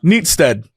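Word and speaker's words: Neatishead: I'm looking at it right now. Neat as head, and then it says pronounced Neatstead.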